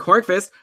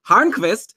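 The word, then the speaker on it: Hörnqvist: I had mentioned Patrick Horace that's actually not how you pronounce his name it's pronounced harvest and I learnt this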